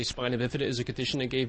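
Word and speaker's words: spina bifida: Uh it's pronounced spinobipida.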